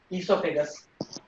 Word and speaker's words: esophagus: And this is all, food pipe is also known as esophagus. Okay. This is esophagus. O is silent.